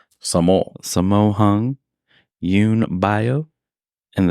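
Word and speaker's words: Sammo: titled wheels on meals it starred s s spell it for me s a m m o Samo Samo hung Yun bio and the Best Known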